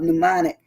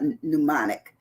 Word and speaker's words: mnemonic: the word down of pneumonic um there's a m that opens up that word so it's not pneumonic even though it is pneumonic the m is silent so you know a